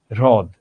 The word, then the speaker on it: হ্রদ: অর্থাৎ আমরা যখন উচ্চারণ করি, উচ্চারণ করার সময় আমরা দেখতে পাবো এই র এর সঙ্গে অটো একটা হ চলে এসেছে, র এর সঙ্গে অটো একটা হ চলে এসেছে।